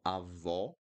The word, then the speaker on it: avó: Okay, so avó, awesome, avósome, avósome, awesome, ó, right? And then após, após, ótimo, awesome, ótimo, ótimo.